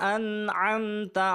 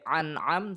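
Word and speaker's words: أنعم: Ini adalah hamzah, ini adalah an' ain '. Jadi bedakan, jangan ucapkan ' anam', tetapi 'an'am'.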